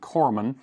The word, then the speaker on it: coumarin: What it says is the notes are lemon, clary, sage, and coumarin, or coumarin probably is the better pronunciation.